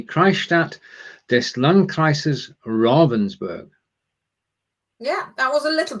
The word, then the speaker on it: Ravensburg: to say ravensberg but it's not is it ravensburg right so let's get it correct from the beginning robinsburg is the christ at this lung crisis robensburg yeah that was a little bit of english